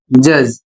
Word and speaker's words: judge: अगला शब्द है JUDGE और इसे पढ़ा जाता है जज।